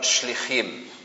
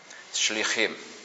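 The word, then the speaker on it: שליחים: Y la palabra en singular es shalia con acento en la i. y en plural shlijim con el acento en la última i shliim como aparece aquí.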